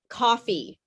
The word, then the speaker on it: coffee: just a couple things coffee i know this is hard for you because you have the word cafe in your in your language which you know means